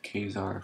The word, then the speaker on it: Caesar: If Kazar for Caesar, I'm pretty sure Kazar is the correct pronunciation of the word, but Caesar is the way I say it.